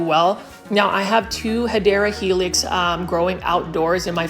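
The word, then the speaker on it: Hedera helix: video without featuring a hedra helix or the correct way to say it is hadera helix or an English ivy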